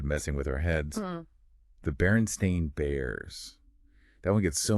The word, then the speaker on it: Berenstain: Berenstain. stain, like a coffee stain, just one letter.